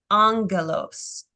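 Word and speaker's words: άγγελος: is usually pronounced is they make the first gamma an N so that it's easier for them to pronounce so this is the word Angelos which is where we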